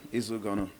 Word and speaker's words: Izu Ugonoh: I'm delighted to be joined this morning by heavyweight contender Izu Ugonoh. Did I say it right? Yeah, that's pretty good. Izu Ugonoh.